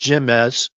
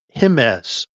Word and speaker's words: Jemez: So the guy told me, okay, so it's not pronounced Jemez like I was saying it to him. It's Jimenez, okay? Because the Latin letter J is sounded with the H.